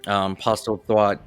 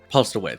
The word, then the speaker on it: Postlethwaite: I thought the whole cast all around, even our preacher, Postlethwaite, Thwaite, is it? I always get his name wrong. Postlethwaite, yeah.